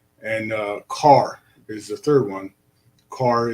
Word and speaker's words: Czar: have been formally czar c-z-a-r but i'm starting to think that the census records are been played around with and it really is not czar it was always car and uh it's just